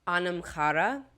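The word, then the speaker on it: anam cara: So it's Anamchara, but it is spelled Anamcara. So basically the reverse.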